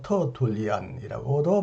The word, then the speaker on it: 테르툴리아누스: 이 영혼에 관하여 매우 독특한 이론을 주장한 한 명의 교부, 오래된 신학자 테르툴리아누스, 흔히 미국식으로 터툴리안이라고도 발음하는 이분의 책 한 권을 오늘 여러분에게 소개하겠습니다.